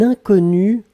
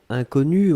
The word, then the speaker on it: inconnu: Alors, faites attention avec le premier mot, puisqu'effectivement, inconnu, on peut le prononcer de la même façon au masculin et au féminin.